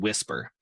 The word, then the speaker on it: Wispr: It's called Whisper. Um, and it's spelled a little bit differently. Um, it's actually spelled wispr flow.ai.